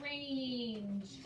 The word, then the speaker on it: range: you don't play u it's not ranch it's range great but you can